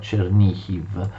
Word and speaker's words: Chernihiv: Vi ricordo che Chernigov viene pronunciato in ucraino Chernihiv.